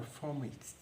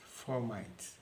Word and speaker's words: fomites: they are called formites some people pronounce their formats well for the purpose of this presentation i'll be pronouncing it as formites yes what are formites